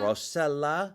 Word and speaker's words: Rossella: Rossella.